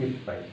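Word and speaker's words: いっぱい: যেমন 1 গ্লাস পানি যদি হয় ইচি হাই, উচ্চারণটা হবে ইপ পাই।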